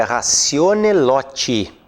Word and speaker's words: ratione loci: Mas a pronúncia correta do latim é ratione loti.